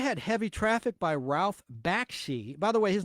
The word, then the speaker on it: Bakshi: sad then you had heavy traffic by Ralph Baki by the way his name is pronounced Baki and it's spelled b a k Shi released